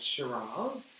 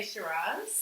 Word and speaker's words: Shiraz: as the old shiraz do you say shiraz well i just did it i just did it on purpose i don't like to be posh yeah yeah yeah because i do hear people say shiraz true yeah i'm not